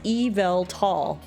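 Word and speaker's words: Yveltal: pronouncing it right evelt according to the official Pokemon X and Y site it's Evel tall okay I guess I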